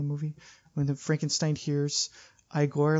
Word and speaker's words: Igor: And then he goes, so you must be Igor. And he's like, no, I'm afraid it's called Igor, sir.